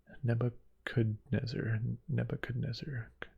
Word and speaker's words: Nebuchadnezzar: So with all my other games that I have, I'm not gonna play Nebuchadnezzar. I feel like I'm not pronouncing the D. Nebuchadnezzar.